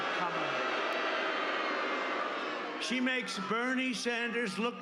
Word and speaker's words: Kamala: You have to pronounce it Kamala.